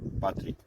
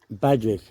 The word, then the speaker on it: Patrick: Patrick. Badrick. Badrick? I would say Patrick. With a Patrick. P. Yeah, P. Patrick. Oh, Patrick. Yeah. Yeah, with a P.